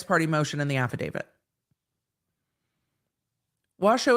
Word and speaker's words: Washoe: motion and the affidavit Washoe is pronounced wash oh okay thank you it's spelled shoe it's like washu s-h-o-e English is such a funny language wash oh why not just spell it wash oh then oh why not